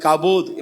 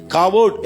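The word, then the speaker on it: כבוד: ಅಲ್ಲಿ ಕವೋಟ್ ಹೇಳ್ತೀವಿ ಅದನ್ನ ಇಂಗ್ಲಿಷ್ನಲ್ಲಿ ಅದನ್ನ ಪ್ರೊನೌನ್ಸಿಯೇಷನ್ ಮಾಡುವಾಗ ಇಂಗ್ಲಿಷ್ನಲ್ಲಿ ವಿ ನ ಮತ್ತೆ ಬಿ ನ ಪ್ರೊನೌನ್ಸಿಯೇಷನ್ ಅದನ್ನ ಉಚ್ಚಾರಣೆ ಮಾಡುವಾಗ ವಿ ಇರೋದನ್ನೆಲ್ಲದನ್ನು ಕೂಡ ಬಿ ಮಾಡ್ತಾರೆ ಸೊ ಹಾಗಾಗಿ ಕಾಬೋದ್ ಮಾಡ್ತಾರೆ ಆಕ್ಚುಲಿ ಬಂದು ಹಿಬ್ರು ವರ್ಡ್ ಬಂದು ಕಾವೋಡ್ ಎಂಬುದಾಗಿ ಕಾವೋಡ್ ಅಂತ ಅಂದ್ರೆ ದ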